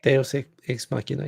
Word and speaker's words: deus ex machina: because I'm always doing it wrong, it's the Deus ex machina. Did I say Yeah. that right? Deus ex machina.